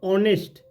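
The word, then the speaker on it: honest: यन ऑनेस्ट मैन, यहाँ पे ऑनेस्ट मैन है तो यहाँ पे ओ से चालू हुआ है, तो इस तरीके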